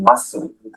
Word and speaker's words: muscle: C as in muscle.